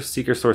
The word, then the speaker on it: XikeStor: the network switch itself it has a logo that says Seeker so you can see where that's part of the name even though it's not spelled like that thought that was kind